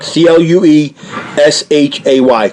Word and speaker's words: Cloutier: He corrected us. It's Cloutier, like Clueshay.